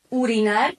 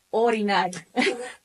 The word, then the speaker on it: orinar: Entonces, eh hace creo que recién el último año me di cuenta que no se dice urinar, sino orinar.